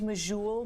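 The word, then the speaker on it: Medjool: satisfying any certain kind of date I use majul most often um and it's spelled m-e-d-j-o-o-l and I like them because they're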